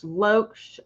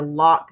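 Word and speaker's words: Loch: And Gary, L-O-C-H, Loesch or Locke, depending on how you want to pronounce it.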